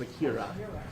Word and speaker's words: Akira: But it's Akira. It's like an A sound.